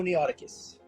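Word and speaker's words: noeticus: Homo neoticus. Homo neoticus? Neoticus. It's spelled N-E-T-I-C as in cat, U-S.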